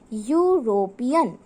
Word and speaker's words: European: o with this this is because when you pronounce the word european you say european and it's starting with u sound y y